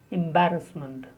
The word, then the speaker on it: embarrassment: Embarrassment. The stress on ba.